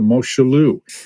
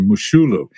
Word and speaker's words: Moshulu: and he runs past a ship called the Moshulu. So, Mar Jose, you might remember this little tidbit, but any uh any thoughts on the I'm sorry, the Mushulu, it's pronounced.